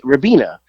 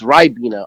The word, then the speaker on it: Ribena: i called it i i said it how it's spelled r-i-b-e-n hey rabina they're like no it's ribena i don't see a y there so i don't know where they're getting the y from well i just naming